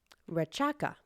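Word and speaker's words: Rechaka: the air we breathe raka exhalation raka or raka in scans the C is always pronounced CH means to release the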